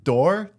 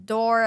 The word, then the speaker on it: Daur: And I think it's like, it sounds the way it's spelled, but I think people just see it and go, I'm good.